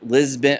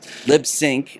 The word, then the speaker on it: Libsyn: the most mispronounced word we're not lisben we're not lib lisbon uh people always say lisbon or lib libsync nope nope it's libsyn which stands for liberated syndication and that's just our